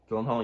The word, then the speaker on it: Gyllenhaal: Like Jake Gyllenhaal, is that how you pronounce his name? Gyllenhaal, yeah.